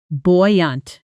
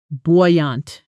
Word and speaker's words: buoyant: pronunciation boy-yant boy-yant sentence There's a buoyant energy in the office since the new project launched.